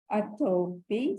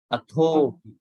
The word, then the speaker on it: athopi: So these have to be pronounced with a sort of an aspirate. Atho, not atopi. Athopi sakkacha sunantu bhasit.